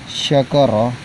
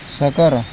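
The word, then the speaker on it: شكر: Harusnya bacanya syakara, tapi kadang dia membaca menjadi sakara.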